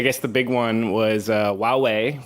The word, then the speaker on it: Huawei: the big one was Huawei which I can now properly pronounce if I just don't think of the H Wow hey seems to have some troubles with the US government and the u.s.